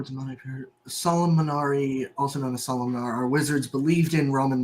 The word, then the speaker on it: Solomonar: How do you spell that? Salomonar. Yeah. With letters. Well, okay. S O L O M O N A R.